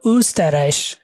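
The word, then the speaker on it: Österreich: pronoun S টি এস্তা উস্তারাই মানে Austria উস্তারাই উটাকে উমলা উঠতো উস্তারাই ওরা খুব সুন্দর করে মুখটা গোল করে বলে উ এরকম বলে তো উসতারাইশ উল মানে হচ্ছে তেল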